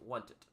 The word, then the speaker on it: wanted: Entonces, esta ed se pronunciaría como una id y decimos wanted, wanted. Una i corta, ojo, no es wanted, no, wanted, wanted.